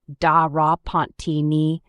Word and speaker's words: de Repentigny: Vincent Edward Parker de Repentigny, which is pronounced like this, da ra Pontigny, adoptive godson of the late, great Lou Gordon.